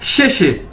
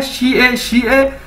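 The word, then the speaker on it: 谢谢: में बोल जाते हैं शे, यानी असल वर्ड क्या है, शी ए, लेकिन चाइनीज जो लोग हैं, स्पीड से बोलने वाले हैं, वो क्या कैसे बोल जाते हैं, शे।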